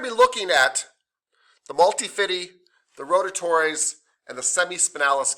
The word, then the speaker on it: multifidi: Multifidi. Yeah, I actually think that is the correct pronunciation. I think the high school students started getting me to say it this way.